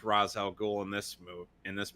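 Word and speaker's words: Ra's al Ghul: pronounce his name idiots it goes back and forth between being razz and race depending on who's saying it because and the devil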